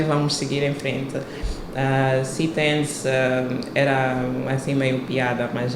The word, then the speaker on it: CTense: Nós estamos a pronunciar Citens, porque o C é da forma como se pronuncia em inglês.